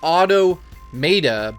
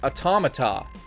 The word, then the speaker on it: Automata: such a long time it looks like Otto Maeda but it's actually automata a tomahto automata I